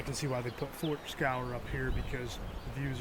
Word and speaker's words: Fort Scaur: It's called Fort Scaur. I believe that's how it's pronounced.